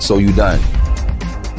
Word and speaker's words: Sudan: from ebeland to abyssinia was called by Arab cartographers solden pronounced so you done that eventually was shortened to Sudan the current name of